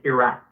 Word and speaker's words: Iraq: call it themselves okay it it's Iraq even in Arabic it's a rock so Iraq but I personally don't mind by the correct pronunciation according to the Arabic language is Iraq okay okay because I'm